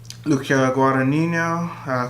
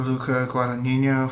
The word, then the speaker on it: Luca Guadagnino: huge upset Best Director Luca Guadagnino call me by your name I think I'm pronouncing that right that's how my Italian professor we pronounce it Bladerunner 249 denis villeneuve